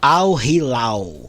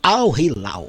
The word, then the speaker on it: Al Hilal: seu adversário, que sai de Manchester City e Al Hilal daqui a pouco. Agora eu vou falar certo, Al Hilal. Aí, ó. É isso aí. Eu havia pronunciado errado aqui e me comprometendo. É Al Hilal.